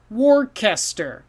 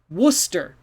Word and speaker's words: Worcester: up if you look trust your eyes you might say warcaster but no this one is worcester so we have all these letters it goes down to two sounds worcester so worcester just ignore